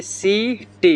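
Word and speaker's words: city: जिसे लेते एक नंबर, जैसे सी आई टी वाई, तो यहाँ पे सी के बाद देखिए क्या आया है, आई है, तो सी का उच्चारण यहाँ पे क्या हो गया, स हो गया। क्या हो गया है, स हो गया है। तो इसको हम लोग पढ़ेंगे सी टी। क्या पढ़ेंगे, सिटी।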